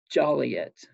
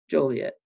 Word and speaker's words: Joliet: the books i think you can get fined five dollars for mispronouncing joliet as jolly yet because everyone knows that you don't say it like jolly yet you say joliet or i think you get fined if you said juliet too uh and of course